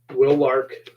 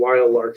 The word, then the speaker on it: Will Lark: And for a fact, person on this cover, Will Lark, who I kept pronouncing Wild Lark through the entire book series up until the last 6 chapters, is my favorite.